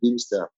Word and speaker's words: Bimstr: Pour ceux qui ne connaissent pas, ça s'écrit Bimstr. Je préfère préciser parce que la façon dont on prononce n'a rien à voir avec la façon avec laquelle on l'écrit. C'est très laid là. Bimstr. Oui, Beamster. Beamster.